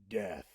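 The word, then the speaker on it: Dheathe: Now, how do you pronounce that? Death.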